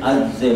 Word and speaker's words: عجز: بہر کردن نیست شرح عجز ماست۔ اچھا عجز ابھی ایک مرتبہ بس میں نے کہہ دیا ہے یہ جتانے کے لیے کہ عجز کا یہ صحیح تلفظ یہ ہے، لیکن ہمارا اور فارسی